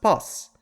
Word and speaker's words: பஸ்: For example, the word boss is spelled like it's pronounced boss.